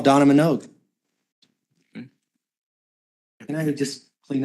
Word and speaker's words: Manogue: My name's Donna Minogue, and my last name is spelled Manogue.